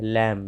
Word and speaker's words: लैम: लैम, लैम मतलब बकरी का बच्चा या भेड़ का बच्चा या मेमना, लैम।